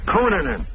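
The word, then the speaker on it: Cunanan: I was saying Kunanan until I heard California reporters saying it's K. I was saying Kunanan until these California reporters say the correct pronunciation was Kunan.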